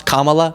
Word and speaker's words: Kamala: There's only so many syllables. You never happen to stumble across Kamala, the correct one?